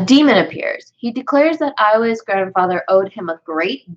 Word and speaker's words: Aoi: It's about this girl named Ioe. AOI. Ioe. I believe that's how it's pronounced.